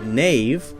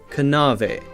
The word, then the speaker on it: knave: in English were pronounced a word like knave K and a ve would have been pronounced something like kanava kanava now we have a silent K so we don't say